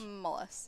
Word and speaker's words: Mullis: Mullis.